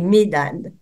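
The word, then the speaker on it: Medad: la règle du jeu la règle c'est de prononcer pour les nots propres et les mots qui ne sont pas dans notre langue on prononce toutes les lettres eldade et mdad jeune homme qu'it annoncer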